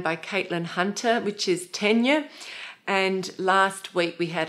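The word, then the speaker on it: Ticino: pronunciation I was saying tigner and it's tenure it's tenure because it's named after a place in Switzerland which is on the border of Italy and so it takes the Italian pronunciation so GaN is new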